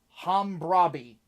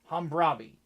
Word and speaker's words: Hammurabi: Hammurabi is how it's pronounced. Hammurabi.